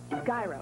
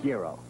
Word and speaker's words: gyro: Jeep and Eagle dealer how do you say delicious in Greek Gyro gero gyro it's the new beef Euro from Jack In The Box seasoned Euro beef Tangy Greek sauce on soft Euro bread Euro no matter how you say it it's delicious just how do